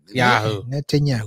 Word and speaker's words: Netanyahu: Netanyahu. It's 4 syllables, man. Netanyahu. Yeah, think Net 10 and then think of the drink Yahoo.